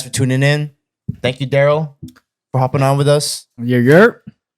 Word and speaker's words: Daryll: Spells like Daryl, but it's pronounced Daryl.